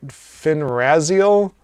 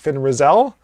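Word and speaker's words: Fin Raziel: though character names uh apparently i would say finrazio for the good sorceress uh apparently that's pronounced finn rizzell i'm gonna spell the r-a-z-i-e-l so how was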